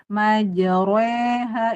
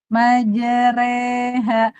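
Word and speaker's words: مجراها: Nah, ketika imalah dibacanya tipis. Majere re jangan. Nah, re biasa aja. Majere majreha. Bismillahi majreha wa mursal. Majreha. Kalau gini majra ha itu tebal. Maj majre tebal. Salah. majereha pokoknya yang ee ibu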